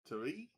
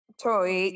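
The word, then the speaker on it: torii: Turi? Tori, yeah, it's Tori with the second eye.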